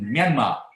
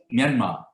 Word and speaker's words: Myanmar: taking place in myanmar myanmar is not myanma being asian we should get that right it's myanmar i know some bbc people and fellows uh in the west say myanmar but that we should know it better because we are closer to them than they are so it's myanmar yeah so and it